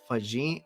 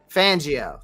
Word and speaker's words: Fangio: a coaching tree of with Vic uh Vic fajit Vegeta I cannot pronounce the guy's last name Vic fangio thank you um known for living in big